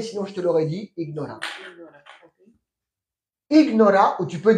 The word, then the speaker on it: ignora: Attention, en espagnol, il faut prononcer toutes les lettres. Ignora.